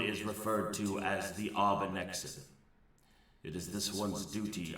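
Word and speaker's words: Arbinexin: I need to spell it out so I can pronounce it right. You just scroll over. Arbanexin? Arbanexin.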